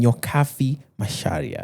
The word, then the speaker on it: Nyokabi Macharia: With me today is none other than Nyokabi Macharia. I said that correctly, right? Yes, the you did.